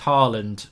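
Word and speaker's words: Haaland: we can't get that it's actually pronounced Harland if someone's trying to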